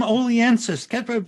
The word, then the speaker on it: Oliensis: tonight funnyman aliensis what's your name oliensis we practiced this before the show tom yeah he pronounced it correctly which puts him ahead of